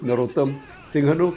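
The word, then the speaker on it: Norodom Sihanouk: ruled by a monarch prince Norodam Singhanuk. In India you would say Narotam Singhanuk. In fact on India radio Akashwani used to pronounce his name as Narotam Singhanuk.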